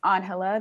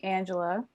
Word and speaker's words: Ángela: know, and in kindergarten, all the other kids were not saying my name as Ángela, they said Angela.